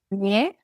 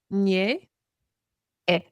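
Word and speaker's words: Ñe'ẽ: And you said it's Ñe, nye e. e. There you have a glottal stop.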